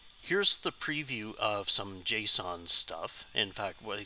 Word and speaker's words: JSON: this format right here called JSON which is pronounced as JSON which is an abbreviation